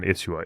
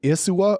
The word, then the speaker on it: Isua: Real quick, pronunciation-wise, are you saying Isua or Isua? Because I've always said Isua, but I feel like I'm getting an SH sound. No, I think it's Isua. Isua or Isua. You'll hear it pronounced differently, but I would say Isua.